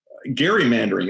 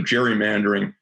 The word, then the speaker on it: gerrymandering: gerrymandering which is uh gerrymandering as it turns out i understand that uh elbridge gary's uh descendants claim that it's a hard g but i guess we'll we'll still keep calling it gerrymandering uh which is basically